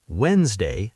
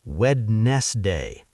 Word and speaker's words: Wednesday: You say Wednesday, not wedness day.